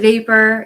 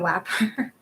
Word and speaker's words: vapor: Yeah, instead of vapor, he also said it wrong. Like, he said it was wapper. It's not wapper. It's vapor.